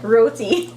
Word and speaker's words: roti: Yeah, roti. You guys, he's saying it right.